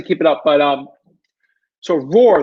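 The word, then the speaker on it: Roor: But so Roar, the reason why I'm saying Roar is spelled R-O-O-R. So maybe if you're looking, you're just like R-O-A-R, Roar. No, it's actually R-O-O-R. When I say Roar, some people get confused by that.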